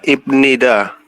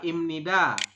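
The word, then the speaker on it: 입니다: imnida imnida ahah imnida Kenapa imnida ingat enggak kenapa bukan ibnida dibacanya Karena Kak karena B diakhir B di akhir bertemu dengan ni ni iya Nien Nien Nien dengan Nien seperti itu oke ya Jadi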